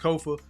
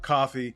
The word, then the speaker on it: Kofa: Once again, I am your humble host, Kofa, K-O-F-A, not coffee, not kufu, not Kofi, or any variation thereof. Kofa rhymes with sofa.